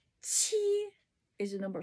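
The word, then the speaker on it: 七: Letter Q, which is pronounced ch, ch, okay? Ch. Qi is the number 7.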